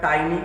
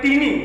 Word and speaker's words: tiny: Some people they pronounce like teeny, but that is actually tiny.